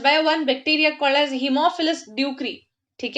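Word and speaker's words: Haemophilus ducreyi: One bacteria called as हीमोफिलस ड्यूक्री, ठीक है, जिसको काफी लोग प्रोनाउंस करते हैं हीमोफिलस डोकरी, बट इट इज नॉट the correct pronunciation, it इज हीमोफिलस ड्यूक्री, ठीक है.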